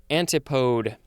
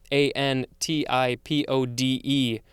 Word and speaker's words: antipode: And here we have that word, and it looks like it's pronounced antipode, antipode. But how do you pronounce the plural version?